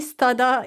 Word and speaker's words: Stoddart: So, the T is silent, is it? Yeah. Stodd.